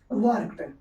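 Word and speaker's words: work: वर्क ठीक है आर वैसे साइलेंट होता है वर्क होता है लेकिन यहां पर लोग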